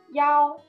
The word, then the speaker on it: 幺: His number 一。We often pronounce 幺 in the phone number.